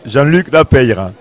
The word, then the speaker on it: Jean-Luc Lapeyre: de la Haye, avec Jean-Luc Lapeyre. Je crois qu'il faut bien tout prononcer en Gascogne, toutes les lettres de votre mot. Tout à fait. On prononce... Alors, reprononcez-nous votre nom. Alors, Jean-Luc Lapeyre, voilà.